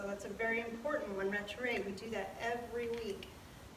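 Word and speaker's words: retiré: So that's a very important one, retire. We do that every week. Retire means retire. R-E-T-I-R-E accent. Retire. Can you see that? It's spelled like retire, but with an accent over the E.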